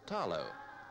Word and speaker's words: talo: Outstanding in the Samoan diet is the taro, pronounced here with the L as talo.